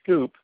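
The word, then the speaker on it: Sqoop: Probably wouldn't do streaming so much, but certainly you could use Scoop, the classic Hadoop tool, and that's spelled S-Q-O-O-P, to pull data out of Hadoop and put it into HDFS.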